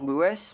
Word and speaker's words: Luis: Oh, Wesker, you sounded cooler before someone was saying um that in the original RE4 uh Leon said Luis like Lewis like with the American pronunciation.